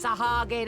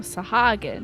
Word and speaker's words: Sahagin: and a Cobalt and sahagin our crew mates oh sahagin not sahag or whatever I've been pronouncing as by the way